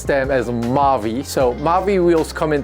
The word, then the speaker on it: Maui: They spell Maui, but I was told to pronounce them as Maui.